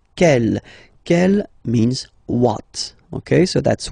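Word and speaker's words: quelle: like that c L but it's pronounced like the masculine form k at the masculine kel at the feminine okay so it's basically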